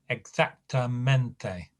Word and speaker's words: exactamente: So when you get an adverb ending in mente, the word takes two stresses, and it's the only Spanish word that does take two stresses. One's on the first syllable of mente, and whatever syllable will be stressed in the feminine form of the adjective.